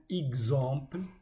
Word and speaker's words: exemple: La lettre X se prononce gz. Un exemple, un exercice, l'heure exacte.